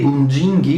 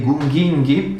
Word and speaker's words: Gunginghi: ex genere Gungingus, cioè della famiglia dei Gunginghi o dei Gunghinghi, a seconda della pronuncia.